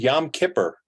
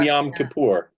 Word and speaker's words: Yom Kippur: say shout out Tova I was taught when I was a kid they said Yom Kippur and then at a certain point it became Yom Kippur yeah which is the correct direct pronunciation right of course I'm